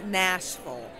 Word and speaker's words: Nashville: I'm going to be there in Nashville. And don't say Nashville, okay, guys? Please do not do that. It's Nashville, okay?